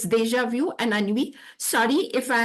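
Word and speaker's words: déjà vu: change the pronunciation and I would like to just pronounce French the French way and see if you can copy me deja vu it is view not vu okay okay okay deja vu has a very different meaning in French and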